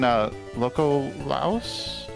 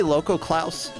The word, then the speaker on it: Lokoklouse: So, like, as we can see in Loco Laos, how do I pronounce that? I say Loco Klaus.